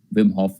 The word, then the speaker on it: Wim Hof: so w i m h o double f wim hof method yeah yeah please okay okay so uh